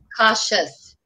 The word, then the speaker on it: cautious: Cautious. Cautious. Don't put a T in there.